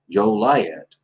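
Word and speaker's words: Joliet: defies the proper pronunciation the official correct proper pronunciation of the name shall be joe lyatt west virginia is a crime against the government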